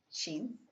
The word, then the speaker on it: Shin: Sheen. Shin. It's an E sound. Spelled with an I, but E sound.